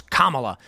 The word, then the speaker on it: Kamala: You don't know how to pronounce her name properly. It's Kamala.